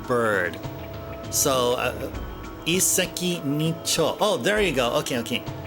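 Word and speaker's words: 一石二鳥: So it's like e with a stop, and seki is stone. Ni is 2. And cho is how you pronounce bird there. But that bird can also be pronounced as tori, as in yakitori. But in another, I think the cho is one of 2 pronunciations of that 4th character.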